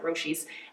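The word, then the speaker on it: Roshe: are my other newer babies um these are roshi that's how you pronounce it roshi and it means means speed or something someone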